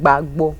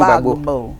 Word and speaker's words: Gbagbo: How do you pronounce it again? Gbagbo. Laurent Gbagbo.